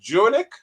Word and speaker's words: Jurnik: And our first timer, a virgin for the show, I think it's pronounced Jurnik. Jurnik, yes, sir.